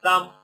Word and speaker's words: thumb: We have thumb. We said B is silent. Thumb, We have index, middle, one, ring, and pinky.